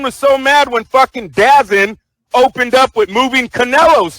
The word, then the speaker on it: DAZN: That's why everyone was so mad when fucking Dazin opened up with moving Canelo's fight. Hey, how did that work for Dazin? Matter of fact, where the fuck's Dazin at right now? Well, DAZN, which is the proper pronunciation.